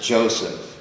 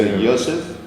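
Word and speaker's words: יוסף: give you a hint joseph is of course not pronounced joseph no it's in here or joseph so what you have here this this is the yosa yes exactly as any hebrew speaking person would pronounce it so yosef the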